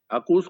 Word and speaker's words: AUKUS: अकूस को आप लिखेंगे ना तो आप देखें ये किस तरह बनता है। AUKUS, अकूस की स्पेलिंग है AUKUS। सो AU for Australia, UK, then UK and then US. इसे अकूस कहा जाता है।